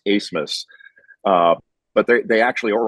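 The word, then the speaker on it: Abmas: spelled a b m a s and it's pronounced asmus uh but they actually Oral Roberts might actually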